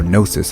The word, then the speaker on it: Gnosis: What makes an Archon is that they have a Gnosis, or Gnosis as it's pronounced in the game.